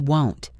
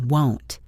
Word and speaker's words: won't: But what about the negative won't? This is a difficult sound for many learners. It rhymes with don't. It is not want like I want a cookie. It is won't.